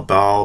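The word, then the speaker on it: Baal: b b a a ball Bale I've heard it pronounced both ways but I think it's Bale and um like in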